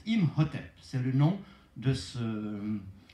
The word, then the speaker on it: Imhotep: La chouette, ça fait Im. Et puis ça, c'est un hôtel avec un pain dessus, ce qui se prononce Imhotep.